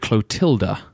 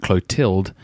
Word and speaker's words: Clotilda: Listener Mark points out that King Clovis of the Franks married Clotilda, and not Clotilde, as I pronounced it.